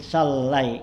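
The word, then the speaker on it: صلّى: saya lurusin lempengin kayu bit tasdid bacanya dengan tasdid solai gitu ya.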